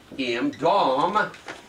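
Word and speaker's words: dam: We said that blood in the Old Testament is the word D-A-M, and it's pronounced D-A-W-M, Dom, and it means to die, to die.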